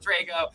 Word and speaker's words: Drago: I would have said Drago even though I pronounced it Drago.